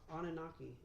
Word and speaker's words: Anunnaki: Just say Anunnaki.